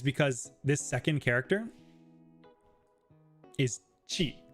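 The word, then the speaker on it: 血: It means blood, and it's pronounced chi. So if you got rid of the dakten here, it's just chi. But because sometimes when you have the second pronunciation after the first one, it adds the dakten. This one is specifically going from chi to ji. So that's why this one is specifically ji. Yeah, good example, King Julian.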